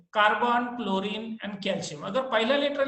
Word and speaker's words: chlorine: Okay तो यानी जो क्लोरीन में H इज साइलेंट, इसलिए उसका नाम Ca शॉर्ट फॉर्म Cl कर दिया.